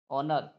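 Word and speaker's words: honor: silent हो जाता है उसी प्रकार एच ओ एन ओ आर ओनर इसको पढ़ेंगे एच ओ एन ओ आर इसको ओनर पढ़ेंगे क्या पढ़ेंगे ओनर एच ओ एन ओ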